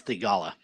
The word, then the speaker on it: Theegala: 4 under, Patrick Cantlay, Sahith Theegala, Kramer Hickok, or is it Theegala? It is Theegala. Sahith Theegala. I just wanted to say Theegala. I like that too, but yeah, I think that's how he pronounces it, Theegala.